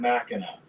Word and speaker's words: Machina: two cats says uh emphasis is on the Mac not Eno so Mac Matt Machina so that was uh